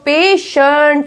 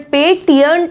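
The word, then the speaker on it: patient: Next is पेशेंट, टी के बाद क्या है, IE है तो इसको बोला गया है श, पेशेंट, पेटियंट नहीं बोलेंगे।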